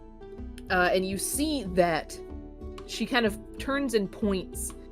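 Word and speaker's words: Sidhe: Uh, and then the sign just says uh, the she siblings present arcana farmers. She siblings pronounced s i d h e.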